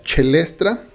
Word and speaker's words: Caelestra: Creo que se pronuncia Chelestra y creo que es así, sobre todo porque utiliza tracks con esta evocación como Caelo, que en realidad es cello en latín, y creo que, bueno, es Chelestra.